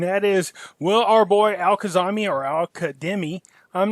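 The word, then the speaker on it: al-Kadhimi: is well our boy al khazami or al qaeda i'm not sure but i was told it's pronounced with a d and not a z anyways will he make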